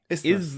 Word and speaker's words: isthmus: It's Isthmus. That's a real thing, isthmus.